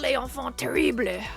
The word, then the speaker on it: Les Enfants Terribles: It's pronounced Les Enfants Terribles.